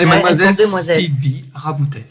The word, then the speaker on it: Sylvie Raboutet: Sylvie Raboutet. J'ai bien prononcé. Parfait. Parfait.